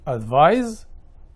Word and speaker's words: advise: Advise. D. Advice. اجابتي الصحيحه ask for a advice. برافو. خلي بالنا ان advice بالسي ناون وتنطق advice، لكن advise بالاس verb وتنطق advise بالزد. اوكي.